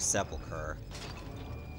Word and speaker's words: Sepulchre: Okay, I guess there was no reason to go back to the Dark Sepulchre. Which apparently that's how it's pronounced.